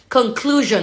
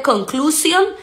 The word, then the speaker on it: conclusion: suena igual conclusion conclusion aquí la s tiene un poquito de vibración conclusion en lugar de conclusion s normal no es una S como si fuera una Z conclusion conclusion conclusion jump to